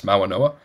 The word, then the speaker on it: Malanoa: How long did we say his name wrong before we finally, you know, you go to an ESPN broadcast and you're like, it's Malanoa?